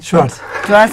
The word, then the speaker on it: Schwartz: ¿Cómo se pronuncia? Schwartz.